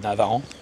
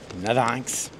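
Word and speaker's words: Navarrenx: Je savais bien qu'il y avait un truc, c'était pas Navarant. Navarinx, on le prononce comme ça ici.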